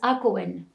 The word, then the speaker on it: Hacohen: So, but Mary Hakoun, H-A-K-O-U-N. The French, when they get to Algeria, they wrote the names how they pronounce it, but her real name is Hakoun.